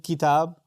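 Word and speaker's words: كتاب: Kitab is spelled like that with a fatha and then an alif, kitab.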